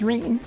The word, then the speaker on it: Rene: Oh, my name's Rene. Rhymes with clean.